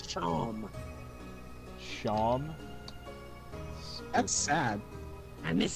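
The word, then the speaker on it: Seam: Steam. Pronounce Shom.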